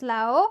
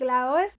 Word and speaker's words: Laos: And let's start with my first point is the basic informations about Laos or Laos. It depends how you want to say it. I say it like Laos.